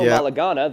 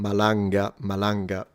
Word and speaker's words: Malanga: Corrado Malagana, the team leader. Malanga. I can give you lessons on how to pronounce the names.